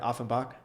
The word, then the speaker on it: Offenbach: I want to ask about, you most recently played with Kickers Offenbach. Did I pronounce that right? Offenbach.